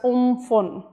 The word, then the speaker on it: Amphan: to make the landfall the tropical cyclone pronounced as oomphel and if I have